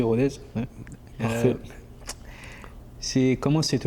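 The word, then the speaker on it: Rodez: à Rodz, j'ai bien prononcé Rodz.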